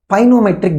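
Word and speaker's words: pycnometric: at this uh the pinometric density what is the spinometric density here the k is silent what is this binomial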